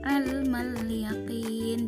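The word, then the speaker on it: عِلْمَ الْيَقِينِ: Beda dengan lafaz ilmal yaqin, di mana alif lamnya itu dibaca dengan jelas atau yang disebut dengan hukum al-qamariyah atau alif lam qamariyah.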